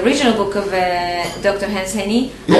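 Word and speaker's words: Jenny: Hans Henny. It's Hans, H-A-N-S. Yes, Henny is with J. Okay. Like Hans Henny, but with J.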